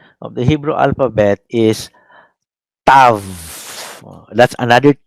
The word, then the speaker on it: tav: Sometimes you can pronounce it even as tau, but anything W in Greek, in Hebrew, would be letter V.